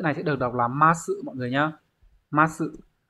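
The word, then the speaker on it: 増す: Nhưng mà chữ này sẽ được đọc là ma sự mọi người nhá.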